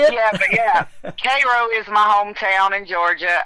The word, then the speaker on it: Cairo: It's actually they pronounce it Cairo like Cairo. okay, there you go. Yeah, uh so yeah. Um Yeah, I'm from Cairo.